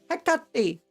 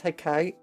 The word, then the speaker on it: Hecate: Hecate! I always want to read that as Hecate, but apparently it's pronounced Hecate.